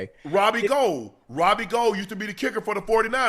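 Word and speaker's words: Gould: He said, you know, you I know you guys have been calling me Robbie Ghoul for a while, but actually my name is Robbie Gold, right?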